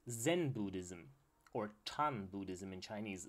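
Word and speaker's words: 禪: called Zen Buddhism or tun Buddhism in Chinese Zen is actually the Japanese pronunciation of the same word tun in Chinese and at this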